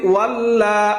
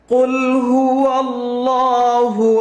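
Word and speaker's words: قُلْ هُوَ ٱللَّهُ: কুল হু, এখানে হা পেশ হু উচ্চারণটা হবে কুল হু আল্লাহ। এখানে অনেকেই বলি ওয়াল্লা, এমন না, কুল হু আল্লাহ হবে না, লামটা মোটা হবে।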